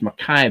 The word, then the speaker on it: Mackay: That's why in Australia they call it's spelled Mackay, but it's pronounced Mackay because it's Scottish, I guess.